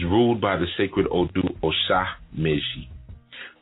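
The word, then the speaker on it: Osa Meji: by the sacred Odu Osha Meji. Osha Meji, that's spelled O-S-A, and you can put a hyphen, make it easy for yourself, O-S-A hyphen M-E-J-I, Osha Meji.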